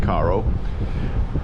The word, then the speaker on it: Cairo: this morning this is Caro again spelled like Cairo but they pronounce it Caro um they have a